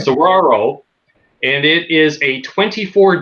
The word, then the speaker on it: Saguaro: I got to say it right because it looks like Seguro to me, but it's Spanish. Right. Sauraro, and it is a